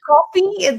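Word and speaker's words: Ko-fi: Um either it's it's coffee. They they say buy me a coffee. So for me it's coffee.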